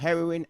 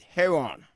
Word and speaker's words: heroin: never heard anything about heroin as a matter of fact I learned how to pronounce heroin about three years ago I used to call it hair on I basically didn't see